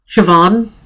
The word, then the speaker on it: Siobhan: I think it's pronounced how Juliana said it, I Oh, believe. say it again. Siobhan? It is Yeah. Yeah, I think Siobhan.